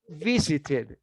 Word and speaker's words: visited: how do you pronounce it how do you pronounce it in the past tense and remember that visited you're right when you have a final t